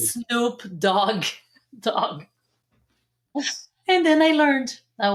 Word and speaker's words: Snoop Dogg: back then, early 2000s, Snoopy Doggy, baby. And then I said that, and this guy was laughing so hard. It's Snoop Dogg.